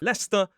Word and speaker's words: Leicester: So while we have Leester, Glouester, and Worcester, up pops Sirencester. Sirencester, but the vast majority of examples of this suffix are pronounced.